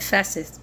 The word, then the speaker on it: Festus: c i u s forches that's how I pronounce that Festus definitely Fus f s t us fesus but